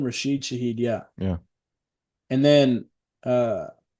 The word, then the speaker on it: Rashid Shaheed: Rashid Shaheed, yeah.